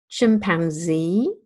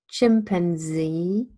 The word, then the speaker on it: chimpanzee: to other phenomena so Webster says that the second vowel can also be a schwa doesn't have to be an ash and that the second syllable can also carry main stress and it would sound the different sounds like this chimpanzee chimpanzee chimpanzee Oxford